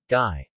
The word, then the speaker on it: ngai: Ink, as in English sing, never as in English finger. Guy.